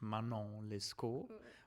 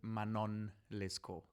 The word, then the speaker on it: Manon Lescaut: Yes, it's usually pronounced originally actually French, Manon Lescaut, but because the title is written by Giacomo Puccini, one of like the most important Italian composers, especially of opera, you can also pronounce it Manon Lescaut, because when the name of her is sung, because it's Italian, the Italians don't do this French diphthong, Manon, but Manon.